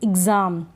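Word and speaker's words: exam: आगे आधा ग और ज यानी ज़, जैसे ज़, तो एग्ज़ाम, आधा ग थोड़ा सा बोला जा रहा है, फिर ज पूरा बोला जा रहा है। एग्ज़ाम, examination, एग्ज़ाम्पल। ठीक है, एग्ज़ाम, एग्ज़ामिनेशन, एग्ज़ाम्पल। एग्ज़ाम ऐसे नहीं बोल रहे हैं।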